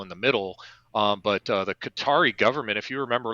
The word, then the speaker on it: Qatar: I want to say the 5 terrorists that were released at that time were released into Qatar, or as they like to say, Qatar.